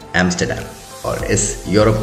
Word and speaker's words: Amsterdam: क्योंकि ये एक डैम है जो कि रिवर एम्स्टल पे बना हुआ है और इसका जो सही प्रोनाउंसिएशन है वो है एम्स्टर्डम।